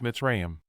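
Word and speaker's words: מצרים: used for transportation Egypt the Hebrew word is pronounced mitzrayam it refers to the land of Egypt Journey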